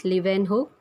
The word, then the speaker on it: Leeuwenhoek: Leeuwenhoek, the pronunciation is Leeuwenhoek, in 1674.